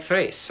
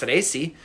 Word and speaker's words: Thrace: There's no silent D in Greek. So if you see a name ending in an E, it's a separate syllable. It's not, except for in the case of like Thrace. I don't get that. I've never heard it pronounced Thraci, but it's got an E at the end.